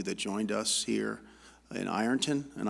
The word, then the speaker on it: Ironton: I want to make sure I thank the Ohio Southeast and all of you that joined us here in Ironton, and I was told it's pronounced Arnton.